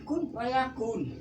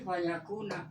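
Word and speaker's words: فَيَكُونُ: orang yang hebat-hebat y bacanya Kun Fayakun i salah Gak ada rujukan ke mana dia rujuknya gitu harus dibaca jangan sampai diwaka dan lagi fayakuna harus dibaca nah ini yang bacaan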